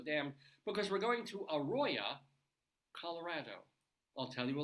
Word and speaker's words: Aroya: or mischaracterizing it, and it should be Arroyo, Colorado. But no, this is something else. This is Aroya, 1 R and an A on the end, Aroya, Colorado.